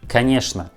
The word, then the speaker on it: конечно: Pay attention that this word конечно we write with two letters O, but we pronounce all these two letters like a. Конечно, not конечно. We pronounce like конечно. And also this word has a letter ch, but we pronounce this letter like sh.